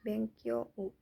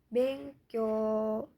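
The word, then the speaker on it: 勉強: Sama, ini pun walaupun yang di belakangnya u, dibacanya bukan bengkyo u, tapi dibacanya bengkyo. O-nya panjang.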